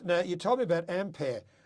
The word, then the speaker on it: Ampere: Now, you told me about Ampere. Is that how you pronounce it? I think it is AMPYR, so Ampere.